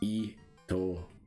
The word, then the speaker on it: Itomaru: So the first syllable is E, not it. It's Itomaru.